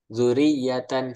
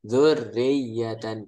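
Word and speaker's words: ذُرِّيَّةً: ulangnya jangan dari awal misal zuriyatan salah ya bacanya kita ulang zurriyatan langsung aja dilanjutkan apa-apa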